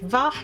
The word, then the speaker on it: V: The V tribe, pronounced Vah and standing for the Vulture, are most likely based out of La Noscea.